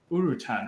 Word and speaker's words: urutan: um you had mentioned a signature massage the urutan how do you spell that and how can people find more about